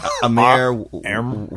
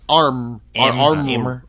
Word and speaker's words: Amr: uh let's see who you pronounce AMR Amir there's no I it's arm that guy does an